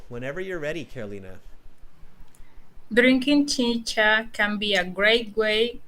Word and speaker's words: chicha: And thank you for correcting my pronunciation on not chica, but chicha.